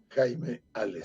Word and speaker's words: Jaime Hales: Jaime Ales, sí. No me pronuncie el H.